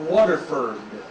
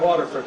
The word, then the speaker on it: Waterford: I'm from Clarkston, Michigan, but I spent 27 years living in a town called Waterford, spelled F-O-R-D, pronounced Ferd.